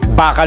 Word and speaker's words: bakal: Bakal 'yun. Bakal 'yun. At saka ang bigkas po bakal hindi yung bakal may pinik sa dulo e.